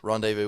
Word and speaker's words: rendezvous: very nice clay so rendezvous it rhymes rendezvous with jamie mcglue right uh shout out